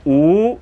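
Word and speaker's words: 五: And I would put 5 fingers up, and in Chinese, 5 is pronounced "oo," and I would say "oo."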